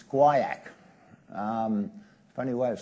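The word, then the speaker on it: guaiac: a thing called and if you don't know how to pronounce this it's guak um funny way of spelling things but quak it's a chemical and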